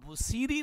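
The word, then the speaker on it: بوصیری: ہیں۔ تو جو امام بصیری رحمہ اللہ کا یہ لقب ہے اس کا تلفظ اور اس کا اعراب کیا ہے؟ با کے اوپر ضمہ ہے، واو ساکینہ ہے اور صاد کے نیچے زیر ہے اور یا ساکینہ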